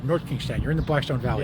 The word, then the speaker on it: North Kingstown: North Kingston. North Kingstown. You got to say it right. North Kingstown.